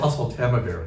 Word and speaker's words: Oseltamivir: It's hard for me to pronounce the generic, how do you say it? Oseltamivir.